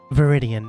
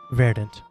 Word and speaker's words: Viridian: handwriting is awful uh it is uh viridian not verdant yeah i spelled it